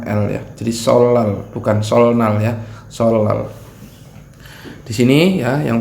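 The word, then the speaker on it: 설날: Tahun Baru Imlek yang orang Korea menyebutnya dengan solar ya walaupun ini huruf N ya Jika dia ada huruf real di sebelumnya Dia membacanya dibaca karya real ketemu Nin bacanya Elya Jadi solr bukan Soalnya soal Disini yang pertama ada unblocker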